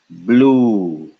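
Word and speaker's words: ब्लू: pronounce this this is half of a b followed by L which would be pronounced blue blue very good that is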